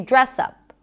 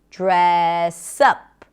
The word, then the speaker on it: dress up: And notice that when we pronounce the phrasal verb, the stress is usually on the second part of the phrasal verb, on the particle. In this case, the word up, dress up. We don't say dress up, we say dress up.